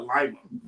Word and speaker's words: Lima: But we actually did get our name from Lima, Peru, but we put our own pronunciation.